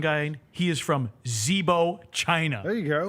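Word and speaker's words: Zibo: I I just looked at the pronunciation guy. He is from Zebo, China. There you go. Zebo.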